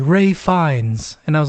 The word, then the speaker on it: Ralph Fiennes: what is it again it came up as Ralph finds and I was like that's not his name and then I Googled the pronunciation and it was like Ray fines and I was like